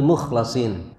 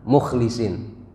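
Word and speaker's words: مخلصين: ke-24 Wari almukhlisin tapi ada ulama yang bacanya dengan Mukhlisin jadi Min ibadinal mukhlasin ada juga yang bacanya Min ibadinal Mukhlisin tapi kalau panjenengan lihat di dalam mushaf itu dibacanya mukhlasin Wal mukhlasun almukhtarun jadi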